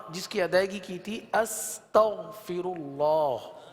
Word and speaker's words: استغفر اللہ: کی ادائیگی کی تھی استغفر اللہ، جس میں غین کی ادائیگی کو درست کیا تھا. اس کو دوبارہ پڑھ لیجئے. استغفر اللہ استغفر اللہ استغفر اللہ.